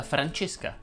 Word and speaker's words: Francesca: iva e pau krajna cominciamo da francesca che si pronuncia con la è chiusa vincenzo enzo lorenzo chiedono